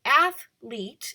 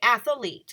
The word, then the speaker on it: athlete: saying it okay when athlete athlete is the correct pronunciation a lot of people say athlete and they add in an a and so then athlete would be mispronouncing that word it's athlete or the month that